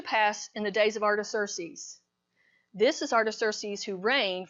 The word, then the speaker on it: Artaxerxes: So it took me a while to get Artaxerxes, and that is how you pronounce it, but he was only